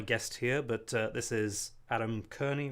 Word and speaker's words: Adam Kearney: much about my guest here, but this is Adam Kearney, right? That's the right way to pronounce it.